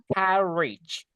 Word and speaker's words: carriage: Carriage. Dibaca J guys. Carriage.